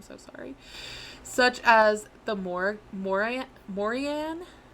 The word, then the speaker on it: Morrigan: Such as the Morian. It's spelled Morrigan, but I've read that the G is silent, so I'm gonna say Morian.